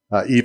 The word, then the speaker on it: Yves: twin brother Dean Thomas it's not not Eves it's not Den it's den and EV what Eves EES you